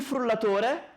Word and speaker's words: frullatore: Allora, questa è la base, ovviamente, con dentro il motore, frullatore, una R sola, frullatore, due L e una R, frullatore. Sì, sentite? Frullatore, la L è lunga, frullatore.